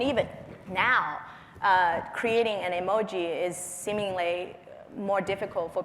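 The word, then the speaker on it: 絵文字: emotion because it's emotion icon Emoji the actual pronunciation in Japanese supposed to be Emoji it's three kanji character which is a Japanese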